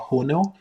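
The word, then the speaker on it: Hono: Cloudflare all of the stuff that uh Cloudflare has a platform called HON and it is open source. Yes. Um, h o n o. That's what I'm pronouncing a little weird.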